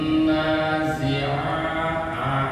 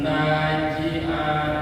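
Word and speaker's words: وَالنَّازِعَاتِ: Wan nazi'ah ya, wan nazi zai jangan sampai seperti ja. Wan naji'ah, kalau ji'ah berarti za, ja, jim ya. Tapi di sini hurufnya za, harus pecah.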